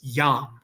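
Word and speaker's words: iam: two syllables it's one it's yam okay so that's technically J almost like a y followed by a vowel so your syllable is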